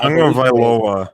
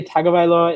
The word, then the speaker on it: Tagovailoa: I always say Tagovailoa. It's Tungavailoa, which I don't understand how you get an N anywhere in there.